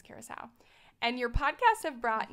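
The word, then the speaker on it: Curaçao: okay I'm looking up how to pronounce it Kuro how did you say it here's how oh wow it's Curacao what's croco then cracker or Caracas Venezuela Morocco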